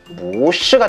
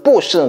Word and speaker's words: 不是: 뿌가 원래 사성인데 뒤에 사성을 만나면 뿌는 자연스럽게 이성이 된다는 거. 왜? 발음이 자연스러워지기 위해서. 그래서 뿌시는 틀렸고 무시가 맞는 거야.